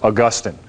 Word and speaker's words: Augustine: to in a Germanic tongue like English as Augustine St Augustine of Hippo so uh those are the two great theologians uh aquinus built a lot on uh on what Augustine had had thought and taught and preached and